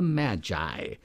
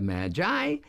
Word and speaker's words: Magi: the right of Mag the letter i changes the sound of the hard G to a soft G or just sound as in The Gift of the Magi which we hear about